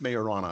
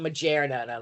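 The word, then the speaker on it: Majorana: in Germany um and Microsoft and Microsoft Microsoft mayorana it's pronounced mayorana apparently it's pronounced okay not not maera like like now majna is the thing you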